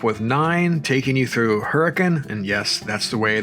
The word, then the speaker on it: Hurricane: seven meets up with nine taking you through hurricane and yes that's the way the locals pronounce it and through Zion National Park with